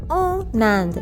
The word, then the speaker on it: en Inde: H is silent, so j'habite, and then again en Inde, nasal sound, en.